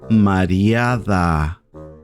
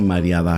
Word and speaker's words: mareada: Ella está mareada.